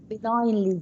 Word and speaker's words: benignly: Benignly. G is silent.